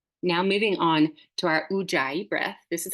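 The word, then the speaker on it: Ujjayi: a certain shape now moving on to our uai breath this is how you spell it it's weird I know but if you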